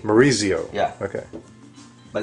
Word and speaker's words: Maurizio: No, Z-I-O with Z. Maurizio.